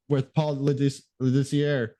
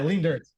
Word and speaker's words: Lindertz: Just kind of like our talk with Paul Lidissier, or sorry, no, Lindertz. Yeah, Lindertz. Yeah. Sorry, Paul, if you're watching. yeah. That's how I always pronounce his name until I actually met him, and then I was like, "Oh, Lindertz, that's how you say it."